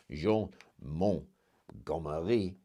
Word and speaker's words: Montgomery: He's put in some trusted generals on board some of the ships, so that allows his admiral, Jean Montgomery, which the French pronounce Jean Montgomery.